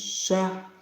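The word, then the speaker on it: شهر: কদর খায়রুম মিন আলফিশ শাহর এখানে কি শাহর বলবো না শাহ ছেড়ে দেবো র এখানে সাইলেন্ট থাকবে শাহ শাহ গোলহা রয়েছে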